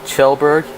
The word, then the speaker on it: Kjellberg: Kjellberg, I think it's, I want to say Kjellberg, but it's more like Kjellberg.